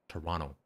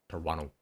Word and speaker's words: Toronto: We do not pronounce the second T. Toronto. That's it. Toronto.